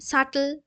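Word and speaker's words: subtle: মানে খুব সূক্ষ যেটা ফাইন সাটল এসইউবি হয় হ্যা কিন্তু উচ্চারণটা সাটেল হয় এসওবিটি এ সাটেল একিউট আমরা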